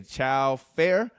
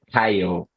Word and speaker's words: Caio: My guy, I believe you say Chow Fair. Is that how you say it? Hello, everybody. It's Caio. It's like Kyle.